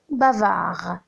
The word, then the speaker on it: bavard: Bavard, on ne prononce pas le D.